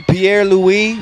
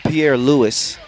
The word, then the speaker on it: Pierre-Louis: It's not Pierre-Louis. It's Pierre-Louis. Get my name right, because my game is tight.